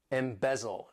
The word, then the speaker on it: embezzle: Embezzle, to embezzle. This verb has 3 syllables and the stress is on that second syllable.